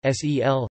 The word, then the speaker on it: saol: This produces irregularities in the match-up between the spelling and pronunciation in Munster, because the word is pronounced, sel, genitive, sel, the dot above diacritic,